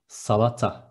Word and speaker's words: salata: Next one, salad is salata. Instead of D, there is T, salata.